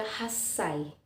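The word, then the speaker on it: 八歳: lanjutkan ke-8 tahun nah disini 8 sama seperti umur satu tahun atau isai jadi delapan dalam bahasa Jepang Haji dan Sai adalah umur bukan khai tetapi dibaca khas Say Hi umur delapan tahun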